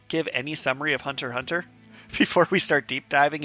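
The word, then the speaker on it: Hunter × Hunter: between catching up on Hunter Hunter and going through JoJo's weirdly JoJo's has more continuity between plat ARS but yeah let's loop back to the very start so Hunter Hunter the ex is silent I just felt the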